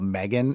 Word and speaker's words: M3GAN: It's called Megan. It's spelled M3GAN, and they develop a robot that pairs with the child that it's bought for.